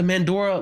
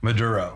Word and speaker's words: Maduro: And I mean, we saw it with the Mandura like, am I pronouncing that right? With the Venezuelan um there was in what? Maduro.